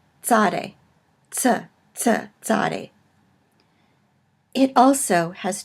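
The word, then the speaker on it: צ: to in that it combines two consonants in English kind of a TS sound as in cats so it's a Sade sir-sir Sade it also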